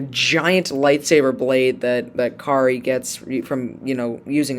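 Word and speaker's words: Karre: carr and or kari i keep saying car kari because it's spelt k-a-r-r-e so i'm thinking like car but no i think it's kari anyways kari and his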